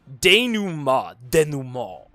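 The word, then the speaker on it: dénouement: Denouement. Mo. Matt was too good at narrative setup for his own good. A bit. I mean, honestly. What up, cheeky monkey? Denouement is pronounced denouement.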